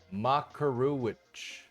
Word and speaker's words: Makaruwich: I think the pronunciation is supposed to be more Makaruwich.